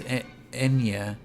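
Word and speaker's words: eñe: The Spanish letter Enya, pronounced Enya.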